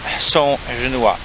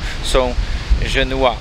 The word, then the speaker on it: Saint Genois: graby familii Laszowskich i są żnua. Nie wiedziałem, jak się to czyta. Tu mamy szajbnięte Saint Genois. Szajbnął rzech do Jakuba, mojego kamrata, który mi szajbnął, co czyta się to są żnua.